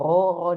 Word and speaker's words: Rho: Ini bacanya Rho, teman-teman.